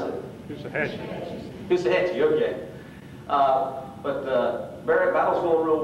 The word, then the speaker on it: Coosawhatchee: And the battle's going real good at Coosawhatchee. Am I pronouncing it right? How do you pronounce it? Coosahatchee, okay.